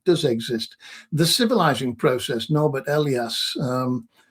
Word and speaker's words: Norbert Elias: The civilizing process, Norbert Elias, his actual pronunciation of his name was Norbert Elias, but he got so sick of people calling him Norbert Elias in England that he started calling himself Norbert Elias, which is a remarkable adaptability.